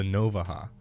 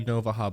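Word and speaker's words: Navaja: Now, I'm from Texas, and this is how you pronounce things that have a J in them. Next, we have the Novaha.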